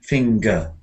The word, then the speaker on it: finger: so we've got here here it's not here we've got two syllables fing finger finger here we've got sing singer